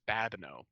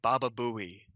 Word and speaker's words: Babineau: um because you know my last name is babano so a lot of kids struggle with the pronunciation especially when they see it on paper or the or the chalkboard whiteboard yeah um so you'll have kids say baba bowie one day or or